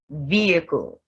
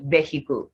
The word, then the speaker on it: vehicle: Honest, honor, air, hour, ghost, when, why, vehicle. So the word is not vehicle, it's vehicle, exhaust, and exhibit. The H is silent in these words.